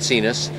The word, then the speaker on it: Sinus: pipistrelle cenus it's spelled like sinus but they pronounce it cenus that's a motor glider big long wings i